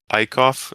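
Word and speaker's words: Eickhoff: the game monday and ikoff that's how you say his name right eicoff yeah jared i cough jared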